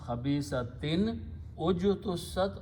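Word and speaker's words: خبيثة اجتثت: There is a rule of recitation that if you have this kind of combination, then you can pronounce khabisatin ujtussat, or you can, proper pronunciation will be khabisati nijtussat. That's how it is written and pronounced in the Quran.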